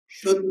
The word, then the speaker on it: शुद्ध: वो सही बोला कर शु भाव नहीं कते शुद्ध भाव जैसे मैंने बोला शु